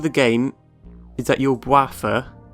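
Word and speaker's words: Bouapha: So the goal of the game is that you're Boaffa. I'm not kidding you, that is the character's name, and I'm pretty sure that's how you pronounce it as well.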